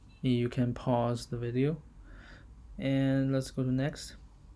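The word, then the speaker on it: ei: You can pause the video and let's go to next. E I or U E. This pronounced just like the English letter A. It would pronounced a.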